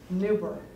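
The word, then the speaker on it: Neuber: I'm going to spell it for you. It's N-E-U, B as in boy, E-R. Newberg.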